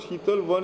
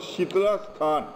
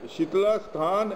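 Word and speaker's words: Shitalsthan: this is kajara sheetal it's not called shital one it is called shitlash khan up here shitlasthan and it is still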